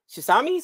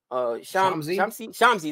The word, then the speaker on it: Shamsi: Is it Shisami? Something like that? Shamsi.